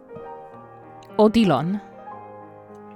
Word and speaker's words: Odilon: elderly man calling himself odilon showed himself before me despite his evident age the man stood tall and spoke in a clear confident voice it's an Italian pronunciation looking into his deep